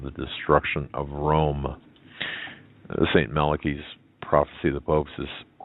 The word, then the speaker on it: Malachi: Malachi presented this, and some people pronounce it Malachi, St.